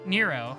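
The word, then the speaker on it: Nrvnqsr: around killing them yeah every time i see the way his name is spelled i try to pronounce it normally and then i just remember it's nero nirvin's career the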